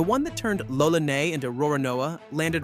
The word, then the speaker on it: Roronoa: Japanese doesn't have an L sound at all. The L and the R collapse into one single row of syllables. So, Lolonois, run through Japanese, comes out Ro-Ro-Noa.